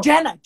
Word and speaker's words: Jenna: Jenna, not Jane.